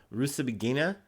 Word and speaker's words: Rusesabagina: Oh my gosh, I went through the trouble trying to pronounce this correctly. Rusesabagina, freed from prison. Rusesabagina was serving a 25-year sentence in Rwanda on terrorism charges, but was freed on Friday, U.S.